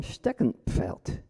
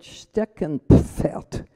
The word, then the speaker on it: Steckenpferd: So the word Steckenpferd has an N followed by a P followed by an F, all of which one must pronounce.